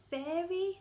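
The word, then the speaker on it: Feyre: Basically, it follows a young girl called Fairy, that's how I pronounce her name, and she gets taken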